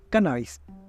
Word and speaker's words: cannabis: recibe los nombres de cannabis cannabis en realidad con acento en la primera Cannabis pero también tiene variantes